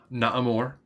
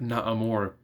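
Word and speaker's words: Namor: Naamor, that's how I pronounce his name, does say the M word.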